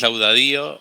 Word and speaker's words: Laudadio: Es laudadío sin acento, pero es laudadillo. O sea, con acento sin sin tilde.